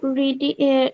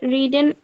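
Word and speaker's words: read: বই পড়েছো have you রিডিং রিডেন রিডেন আ বুক না রিড রেড রেড উচ্চারণ হবে রেড বলো ইয়েস আই হ্যাভ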